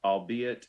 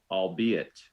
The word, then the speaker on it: albeit: The cat thought the dog was just a nuisance, albeit a very persistent one. Albeit. Are there any alternate pronunciations? There are. It's albeit or albeit.